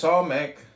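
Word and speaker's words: Samekh: Samek, pronounced Samek, transcribed as S, the number 60, meaning prop, support, the intelligence of probation, trial.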